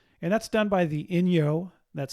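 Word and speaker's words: Inyo: it's in April and that's done by the Ino that's spelled i n yo the Ino National Forest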